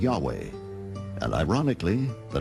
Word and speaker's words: Yahweh: Many inadvertently referred to the name of God as Jehovah instead of Yahweh, and ironically, the name has stuck.